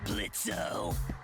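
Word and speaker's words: Blitzø: in it uh-huh sure blitzo the O is silent now and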